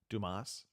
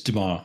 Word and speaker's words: Dumas: Dumas. Yes, no, maybe so. I believe it's Dumas. It's Dumas? French, so you only pronounce like half the letters.